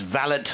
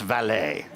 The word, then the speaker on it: valet: that he said we're not parking cars it's valid not valet so that was the first lesson but no